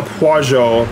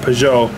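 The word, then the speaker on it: Peugeot: next win yeah I've been pronouncing it pajo but that's probably incorrect though uh P I think somebody mentioned that it's pronounced Pou those two guys are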